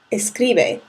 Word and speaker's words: escribe: the rules right now but this would be pronounced as escribelo which is not how escribe should sound if we cut off the low